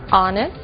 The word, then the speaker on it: honest: Blue White red yellow o som do H pronunciado desde a garganta como em hot e mudo em três casos our honest Honor e a frase de